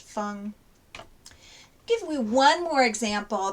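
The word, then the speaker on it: 峰: contain that same right hand portion are also pronounced fung or something similar so fung is so it has a silk radical um fung is mountainous with a mountain radical of course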